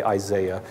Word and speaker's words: Isaiah: The prophet Isaiah, or you say Isaiah. I always have to explain myself. I went to school and did my postgraduate work in Scotland, and that's how they pronounced Isaiah, and it just stuck